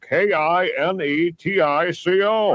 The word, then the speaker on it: Kinetico: That means you should have remembered kinetic as in kinetic energy with an O on the end.